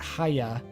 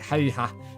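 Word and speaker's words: Häyhä: It looks like Haya, but it's pronounced like Haiha or something like that.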